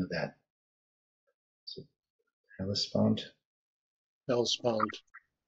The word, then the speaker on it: Hellespont: Hellespont. Hellespont.